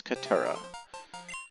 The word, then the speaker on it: Katura: Now, in spite of the fact that there's an I in this name, the I is silent, and her name is Katura.